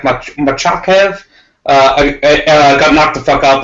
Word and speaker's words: Makhachev: I think there's an extra syllable in there. It's like Machakev.